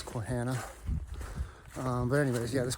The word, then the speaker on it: Quehanna: day one it said I never know how to pronounce it quana quana whatever um I said it was taken from sasana part of the word sasana so I guess it's quana um but anyways yeah